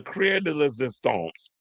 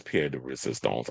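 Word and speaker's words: pièce de résistance: But the Crier de Resistance, the icing on the cake, the creme de la creme, the peanut butter to my jelly, you already know that it's Pierre de Resistance.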